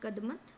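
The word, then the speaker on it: Kadmat: यहाँ एंड्रोथ लिखा है लेकिन एंड्रोथ द्वीप समूह, और कदमत बोलते हैं, कदमात बोलते हैं, जैसा भी प्रोनाउंसिएशन अलग अलग होता है, कोई उसमें ज़्यादा मैटर नहीं करता है उसके लिए।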